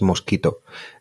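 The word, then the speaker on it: Mosquitto: pero las más populares es mosquito se escribe mos un mosquito como suena pero con doblete es un software es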